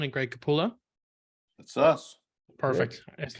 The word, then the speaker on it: Capullo: I do my little introduction let me just pronounce the names make sure I get them right Todd McFarland and Greg capulla that's us perfect I just never want to